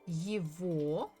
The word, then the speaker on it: его: So we say это его. So we write the G, letter G, but we actually pronounce it as V.